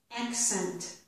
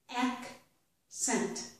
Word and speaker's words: accent: This is accent. Accent. So the first C makes a k sound. Ack. The second C makes a s sound. Scent. Accent.